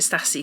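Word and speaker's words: Stassie: And in this one, Anastasia, or Stacey, I keep calling it Stassi because it's how it's spelled, and Nate.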